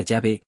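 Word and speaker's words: Yahweh: Testamento la palabra, Señor, proviene de la palabra Yahvé, a veces pronunciada Yahvé, a veces con W, y en alemán se pronunciaba con V.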